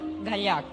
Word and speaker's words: Gallach: your last name well if you want to pronounce it my way that's what I want to do Catalan way gak gak but it's quite tough